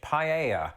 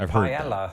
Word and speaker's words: paella: A fine example of this would be the Spanish dish paella. And notice how I said it there, because that's not how I used to pronounce it when I lived in Britain. Me and most people I knew pronounced it paella.